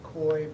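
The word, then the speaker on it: Khoi: department a part-time officer and his name is koi Bowie that's spelled k-h-o-i last name buoy b-u-i and the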